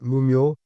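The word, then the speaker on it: 無明: Il s'agit de l'ignorance qui en japonais se prononce mouio et signifie littéralement obscurité, absence de lumière.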